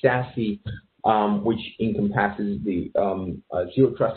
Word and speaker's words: SASE: And furthermore, at the end of 2019, Gartner put out this new framework called Zero Access Service Edge, pronounced SASE.